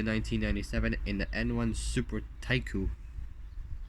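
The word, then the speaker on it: Taikyu: it took 50 races from 50 starts from 1991 to 1997 in the N1 super Tycoon it's not taiku but thank you it's about it's it's spelled t-a-i-k-y-u so Japanese word thank you I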